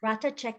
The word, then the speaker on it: Ratha Chek: is ratha is it is it rata check is that how you say it yes rata check the H is silent so I I will